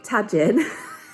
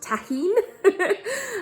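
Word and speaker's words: Tajín: watermelon um this is what i've been calling tajin having watched a recent episode of abby's kitchen is actually pronounced tahin um it's like chili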